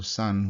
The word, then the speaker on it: san: And also san, which you might know, also is 2 syllables, sa, n.